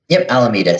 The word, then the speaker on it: Alameda: their flagship office okay and so when did Alameda come about and I am pronouncing that right yeah Alameda so I Alameda came out in late 2017